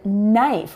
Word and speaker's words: knife: This works with other words that start with an N sound as well, even if they're not spelled with an N, like the word knife. We have to pay attention to the sound and not just the spelling.